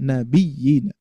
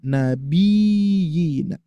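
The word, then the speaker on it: النبيين: Jangan sampai kita menghilangkan tasdid dengan menggantikan mad nabiyina. Maka dari itu cara bacanya Bapak Ibu sekalian berikan naber pada ya bertasydid ya.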